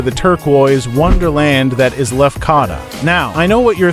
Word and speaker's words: Lefkada: But before we embark on this unforgettable journey, let's tackle the name, Lefkada. That's right, not Lefkada or Lefkada. It's got that Greek flair, and trust me, by the end of this video, you'll be rolling those syllables like a true islander.